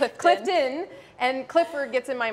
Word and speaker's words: Clifton: i'm doing well thanks i think i just pronounced your last name wrong it's all good we talked about her dad's name is clifford her last name is clifton and clifford gets in